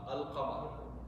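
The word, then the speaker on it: القمر: Qamariya means you will pronounce the lam, Al-Qamar.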